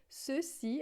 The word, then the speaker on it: ceci: Se tiver na frente do E e do I, a gente vai pronunciar com som de S, como em português. Então, ceci, que significa isso, né? Ceci, a gente pronuncia ceci, né?